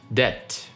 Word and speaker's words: debt: Номер 5, debt. Хоть там написано be, мы ее не произносим. Зачем она там вообще есть тогда, не знаю. Просто смиритесь с этим.